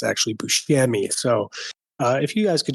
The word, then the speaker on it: Buscemi: I wanted to wait to correct you guys on this, but Steve Buscemi, as you've been saying it, it's actually Buscemi.